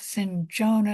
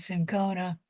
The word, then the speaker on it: cinchona: The first antimicrobial drug that was ever used was the bark of the cinchona or I used to know how to say that, cinchona tree. Both cinchona and cinchona are correct pronunciations.